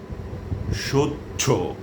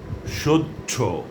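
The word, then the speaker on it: সহ্য: গ্রাছ বাচ্চিক দাজ্য মুচছ্যমান সচ্ছ লেচছ ঐতি এই হলো এই শব্দগুলোর উচ্চারণ যেগুলোতে হ এর সাথে জফলা আছে কিন্তু হ এর কোন উচ্চারণ হবে না হটি বিলুপ্ত হয়ে জ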